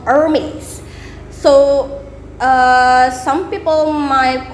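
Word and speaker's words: Hermès: so you want to spell you want to pronounce it in french so hermes hermes ate the age kind of silence they're hermes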